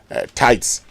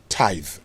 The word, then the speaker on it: tithe: go in and say oh um you know tights tights and offering no what you do is that you pay your tithe so it ends with a the sound as